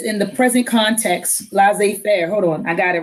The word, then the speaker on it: laissez-faire: things take their own course without interference right let's say fair okay so in the present context let's say